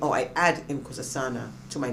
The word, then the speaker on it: Nkosazana: And the name that I give myself, and actually is pronounced Nkosazana with the click. Yes. All right. But I would just say Nkosazana, so it's more, I always get tripped up with this.